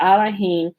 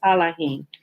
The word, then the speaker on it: Elohim: which they replace and they use the e and say elohim but the proper pronunciation is allahim okay that's pretty clear